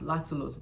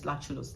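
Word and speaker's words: lactulose: Usually before I will call lulose as lulose but the right pronunciation is laculos.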